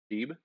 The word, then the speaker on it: SHIB: The coin is named after a Shiba Inu, which is a dog. So, I would pronounce the coin named after a Shiba Inu, shortened to Sheeb, pronounced Sheeb.